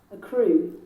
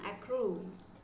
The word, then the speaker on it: accrue: locally why we are we have to focus on the pronunciation it's for the speaking crew a crew a crew which means follow but